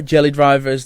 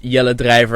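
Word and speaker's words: Jelle Drijver: name is jelly driver jelly drivers the way that the most foreign people pronounce my name in Dutch it's yellow driver and I'm going to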